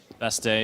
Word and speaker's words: Bastille: was overthrown so it's guarded by the extremists best day is how you properly pronounce best deal best team bestily close enough